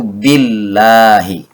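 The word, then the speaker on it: بِاللهِ: bak ini berharakat kasrah dibacanya menjadi tipis atau tarqiq yaitu Billahi Allah tidak lagi dibaca Allah karena ada bak menjadi Billahi yang tidak boleh dipaksakan tafkhim yaitu menjadi Billahi sekali lagi dibacanya Billahi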